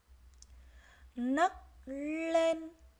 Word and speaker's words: nấc lên: Nấc lên. Khi đọc từ này, các em lưu ý tiếng nấc chúng ta phát âm là n, còn tiếng lên chúng ta phát âm là n l.